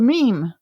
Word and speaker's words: meme: same and created the meme and he it's rather clever that it rhymes with Gene or almost rhymes with